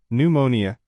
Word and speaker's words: pneumonia: 2 P pneumonia. The P is silent. It sounds like pneumonia.